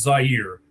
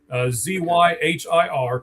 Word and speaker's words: Zahir: It really is Zahir. Zyhir.